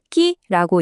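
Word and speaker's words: ký: 그리고 또 하나, 킬로그램이라는 단어, 끼라고 읽는데 킬로그램이라는 뜻이에요.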